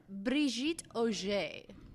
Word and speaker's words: Brigitte Oger: Can we get the full pronunciation of your name? Because I like to butcher it. It is Brigitte Oger.